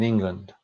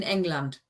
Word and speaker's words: England: Weiblingen ist die Partnerstadt von Mayenne in Frankreich und Devizes in England. Except you need to pronounce it in German, so it's in England.